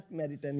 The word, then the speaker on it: Jacques Maritain: pronunciation of this jitan I think Ja Jack maritan yes yeah that's the right pronunciation Jack maritan yes because